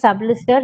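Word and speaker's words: Sublist3r: It is pronounced as Sublister even though it is written as Sublist 3R.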